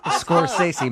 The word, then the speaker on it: Scorsese: It's Scorsese.